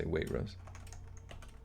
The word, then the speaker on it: Waitrose: up how to say Waitrose pronounced wait Rose let's see Emma's saying